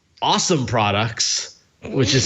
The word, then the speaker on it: OSOM: of essential have started a new company called awesome products which is spelled osom and pronounced awesome i'm sorry i'm laughing but no it's it's